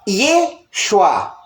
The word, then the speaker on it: Yeshua: Yud, Shin, Vav, Ai se pronuncia Yeshua.